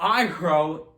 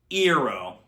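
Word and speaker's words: Iroh: pronounced as sooka and general iro he gets his name pronounced as general ero shamalan were you so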